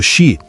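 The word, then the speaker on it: 四: O número quatro, pronunciado xi, soa como a palavra para morte.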